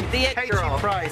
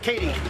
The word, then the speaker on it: KT Price: She's the one-of-a-kind KT Price. How you pronounce the name? KT Price, not Katie. KT Price.